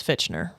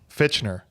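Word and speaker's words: Fichtner: would pronounce it as fitner fitner fitner f i c HT n e r but see the T throws it off fitner whatever we'll just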